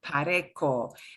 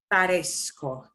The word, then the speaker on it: parezco: I cannot just conjugate this as pareco because it changes the sound of the C to a hard C sound. So to get back to that soft C sound, I have to add in this Z. Parezco, parezco. I do still keep the C from parecer, but parez, that zeta conveys that S sound again, parezco.